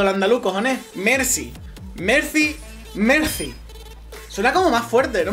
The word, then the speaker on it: Mercy: oando a luz Mercy digo Mercy con c porque Mercy suena con z para mí a ver si diferenciamos un poquito el andaluz cojon Mercy Mercy Mercy suena como más fuerte